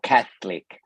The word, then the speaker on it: Catholic: Una forma es simplemente sacar la lengua entre los dientes. I don't pronounce it that way. Yo no lo pronuncio así. Yo no digo Catholic. Catholic. I don't say that. I pronounce cath. Cath. So there's more like, como que pego la lengua un poco a los dientes de arriba. Cath, cath. Y la muerdo un poco a los lados.